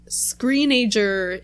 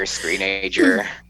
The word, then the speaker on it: Screenager: All right, now one of the more mellower songs, Screenager. Is that how you say it? I think so. Screenager. That's how I say it. Teenager, Screenager. It was produced by John Leckie.